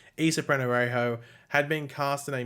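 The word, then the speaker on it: Ysa Penarejo: Well, we knew that Issa Penorejo, I think that's how you pronounce the name of it. I think I've only done one video where I pronounce it, but I think it's Issa Penorejo, had been cast in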